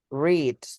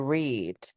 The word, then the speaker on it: read: Read, to read. In present, but in past is read. Read present, read past.